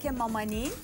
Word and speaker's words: Cakeh Mamani: Actually, it's called Cakeh Mamani.